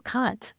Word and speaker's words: Kant: I think he brings up Aristotle and Plato and even Immanuel Kant.